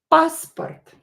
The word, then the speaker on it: паспорт: Паспорт. Паспорт. Passport. Of course, it means a passport. Passport in Russian language. Again, O is not stressed, so pronounce it as A.